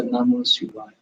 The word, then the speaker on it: Namah Shivaya: Nam, Ma, Si, Va, Ya. Those are the 5 syllables. Again, Nam, first syllable is Nam, second syllable is Ma, third syllable is Si, fourth syllable is Va, and then fifth one is Ya. So Namah Shivaya.